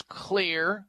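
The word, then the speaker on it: Xlear: sprays, Clear Max, and Clear, by the way, is spelled X-L-E-A-R, X-L-E-A-R. The X is for xylitol.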